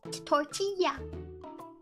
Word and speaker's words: tortilla: say it tortilla and if they have the two L's next to each other in Spanish words it makes a y sound as tortilla yeah although although even